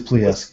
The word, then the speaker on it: Plesetsk: launch facility, and I don't know how to pronounce this, Plesetsk? I'm pretty sure it is Plesetsk, yeah.